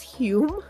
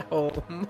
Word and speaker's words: Home: have an important question why are we pronouncing this Hume that's how it's pronounced it says who the Scottish oh the Scottish of course they're pronouncing this not home okay yeah I know